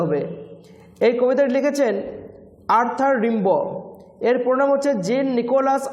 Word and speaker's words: Rimbaud: এই কবিতাটি লিখেছেন আর্থার রিম্বো। এর প্রোনাউন হচ্ছে জিন Nicolas Arthur রিম্বো। Hair D will be silent and it should be pronounced as রিম্বো, নট রিম্বড। ওকে, এটা প্রোনাউন্স করবো কীভাবে?